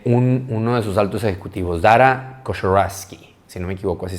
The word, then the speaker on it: Dara Khosrowshahi: Y esta es la historia de uno de sus altos ejecutivos, Dara Khosrowshahi, si no me equivoco, así se pronuncia.